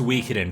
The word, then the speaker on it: Suikoden: feedback guys I am fully aware that it's pronounced Suikoden but I have no desire of ever pronouncing